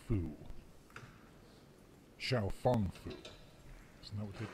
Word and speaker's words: Xiaofang: And if it's spelled fang, then it's pronounced fang.